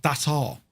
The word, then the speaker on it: Dassault: Dassault is pronounced that's all.